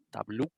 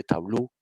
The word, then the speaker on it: Tableau: Usted puede encontrar Microsoft Power BI, puede encontrar otro que se llama Tableau, se escribe T-A-B-L-A-U, Tableau.